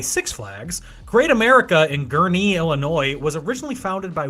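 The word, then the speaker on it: Gurnee: No, that's so the the emphasis is on knee, not g. Gee. Yeah, it's gie. Yeah. Yeah. No, for the longest time I called it just gurnie.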